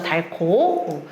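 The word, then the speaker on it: 닳고: 달코 얘네 히 막 자이 달코 어떻게 발음해요 우리 달 코라고 하죠 얘는 어떻게 돼요 히과 기억 만나면 뭐 일어나요 추약 축약 거센 소리 되기 일어나잖아요 그리고 달른 같은 경우에는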